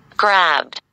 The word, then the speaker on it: grabbed: Grabbed. وهذه grabbed, grabbed. الدي نطقناها دي ليه؟ لأن البي voiced, البي منطوقة فيها فرقعة.